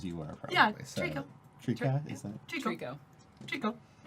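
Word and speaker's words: Treeko: Oh yes, T-R-E-E-K-O. like Trico.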